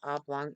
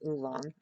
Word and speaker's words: oolong: Not oblong, oolong.